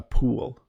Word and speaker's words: pool: If it's hot, if you're experiencing a heat wave like we are right now, you might wish that you had a pool, a beautiful place to swim to cool off.